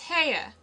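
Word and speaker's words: Haigha: His name is Ha. He pronounced it so as to rhyme with mayor.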